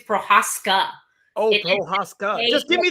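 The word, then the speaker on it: Procházka: No, he's telling you're saying it wrong. His name's Prochazka. Oh, Prochazka. Just give me the right stuff. SG, give me the right one. Prochazka.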